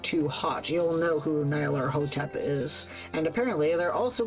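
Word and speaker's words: Nyarlathotep: eons from being shared there's no official way to pronounce that name since it's made up a nonsense word but I prefer Nar lotep whatever say it however you want to say it and don't feel embarrassed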